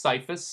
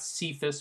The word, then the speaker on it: CYFS: a mouthful is just cyphus cyfs again that's cyphus not sephus or anything else we've decided cyphus is the pronunciation Justice is a little